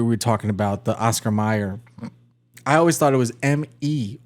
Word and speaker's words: Mayer: Um you know even in the movie The Santa Claus he says it was an Oscar Meyer weenie whistle. Not mayor. He said it Oscar Meyer.